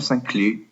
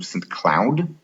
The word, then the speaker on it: St. Cloud: So there will be from Minneapolis, not to St. Cloud, which is the French pronunciation, but to St. Cloud, which is there's a commuter train, but it only runs rush hour.